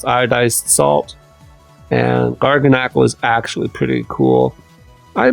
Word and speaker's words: Garganacl: Now we've got Knackley, Knacklistack, and Garganacl. And I believe this has to be pronounced Knackley, because this is clearly Garganacl, like Tabernacle.